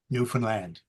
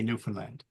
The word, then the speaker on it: Newfoundland: And if you ever wonder how you say it, I'll give you a 2-word rhyme. Understand Newfoundland. And that's it. That's how you say Newfoundland.